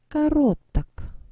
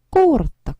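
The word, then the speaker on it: короток: 그래서 결론적으로 주어가 남성 단수일 때는 그는 짧다 하면 온 까로크 온 까로크 이렇게 됩니다. 자, 근데 강세가 이동해야 되겠죠? 뭔가 발음하고 나니까 이상하죠.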